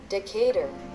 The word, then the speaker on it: Decatur: El siguiente es esta ciudad en Georgia, que en español quizás se pronunciaría esto de Decatur. Veamos ahora cómo lo pronuncia el traductor y aprendamos. Decatur.